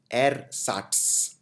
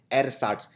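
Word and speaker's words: ersatz: लिए जिसको बोलते हैं एर साट ये थोड़ा सा डिफिकल्ट शब्द है प्रोनाउंस करना एर साट ई आर एस ए टी जड एर साट मतलब नकली फेक मतलब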